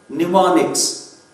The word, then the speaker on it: mnemonics: Mnemonics. Mnemonics means M is silent there.